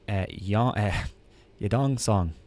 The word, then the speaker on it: Yadong Song: And I also like Yadong Song.